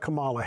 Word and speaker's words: Kamala: Omari Yeah, yeah, I disagree and can we can we start by just agreeing that we pronounce the vice president’s name as Kamala Harris and not Kamala, Kamala Harris?